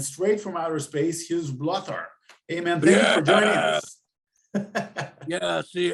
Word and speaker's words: Blóthar: the bangor and straight from outer space his blotter amen yeah see it's actually pronounced blow thar i don't know why we just put the